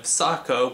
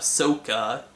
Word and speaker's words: Sokka: Instead of Sokka, we have Sokka.